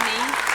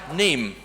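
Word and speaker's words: Niamh: My name's pronounced Neve. Oh, I'm sorry. May I say that one more time? Neem.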